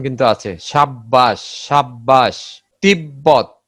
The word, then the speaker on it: তিব্বত: ব এর সঙ্গে ব ফলা যুক্ত হলে ব উচ্চারণ স্বাভাবিক থাকে।